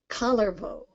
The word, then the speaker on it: Kullervo: So it's always Kullervo, Kalevala, Kullervo, Untamo. All of them hit that first syllable. So if you remember that, you can't go wrong.